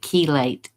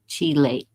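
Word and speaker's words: chelate: And the um the cardiologist said keate. I I thought it was chilate. I don't know. But it's it's spelled like that. And um that's the magnesium that he said to take. Keelate like C H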